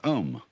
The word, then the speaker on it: om: mantras is of course the sound om. That sound is used because if you spell it out a u m, it runs from the back of your throat to your lips and therefore it contains the whole range of the voice and for that reason